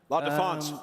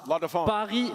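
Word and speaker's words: La Défense: It's going down June 26th to the 28th in the La Defense Arena. How do you say that in French? La Defense. La Defense La Defense Arena.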